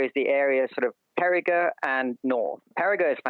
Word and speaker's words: Périgueux: name of the city that you're talking about, Périgueux, yes. It's P-E-R-I. It's spelled the French way, so there's lots of letters at the end that have nothing to do with the pronunciation.